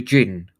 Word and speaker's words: jinn: deserts orders called the the jinn i double n which is pronounced the same way as jin and he's like i'm